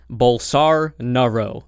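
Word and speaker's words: Bolsonaro: Portuguese speaking people have told me it's actually pronounced bowls are Naro okay bowls are Naruto so on our route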